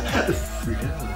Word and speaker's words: Flow: Oui, ça se prononce comme ça. Flow.